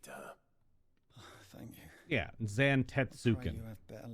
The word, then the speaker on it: Zantetsuken: her thank you yeah Zan tetsuki just four four full syllables yeah that's how most